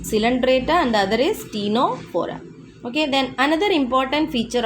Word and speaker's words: Ctenophora: Phylum Ctenophora. Okay, what is it? Ctenophora. Here also C is silent.